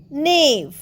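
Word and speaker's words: knave: আমরা নেক্সটটায় যাই নে কে এন এ ই নেভ নেভ কিন্তু নয় নেভের মানে হল প্রতারক ধূর্ত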